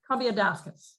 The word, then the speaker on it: Combiadakis: Combiadakis.